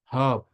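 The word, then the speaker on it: hop: اه، هاب يعني قفز. ثانية اهو. ثانية. آه، الترجمة بقى. ايوه هو. هاب قفز. مش هوب. مش قفز. هوب. بتقول هاب.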